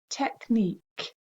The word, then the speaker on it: technique: unique spelling five is technique can you hear that on the end technique if we learn the